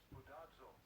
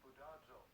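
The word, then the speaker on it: σπουδάζω: Spudazzo. Spudazzo, that's it. Spudazzo. Spudazzo. That's the pronunciation.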